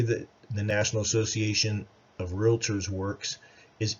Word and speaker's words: Realtor: local Realtor Association and notice that I said it's realtor and it only has one A and two syllables and I know how